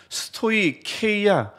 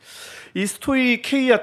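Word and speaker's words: στοιχεῖα: 성경 책 주에도 나오겠지만 스토이케이아 여러분 성경에는 스토이 헤이라 나올 거예요 근데 해는 사실은 정확하게 발음하면 케와 해의 중간입니다 스토리 한데 그게 이게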